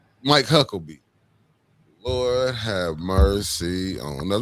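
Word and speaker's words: Huckabee: I've been watching that Tucker Carlson um uh uh and and and and and uh Huckleberry. Is that his name? Am I saying it right? Huckerby. Mike Hucklebee.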